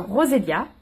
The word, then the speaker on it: Roselia: Le E, ça se prononce pas. Roselia.